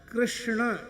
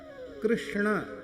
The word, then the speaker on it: कृष्ण: कृष्ण यह शुद्ध उच्चारण प्राय कम लोग करते हैं। कृष्ण यह सही उच्चारण है।